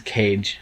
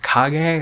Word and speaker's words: Kage: is Legend of Kage, I think he pronounced. I thought it was Cage, Legend of Cage, and I was like, oh, Legend of Cage, what's that? And then he was like, it's actually Legend of Kage or something.